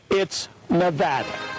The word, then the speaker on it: Nevada: Nevada meaning snowy but according to the official NBC Handbook of pronunciation originally published during World War II it's Nevada thank you when Brian